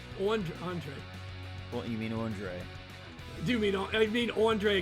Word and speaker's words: Andre: like ENT like and like entree like Entre that's what I was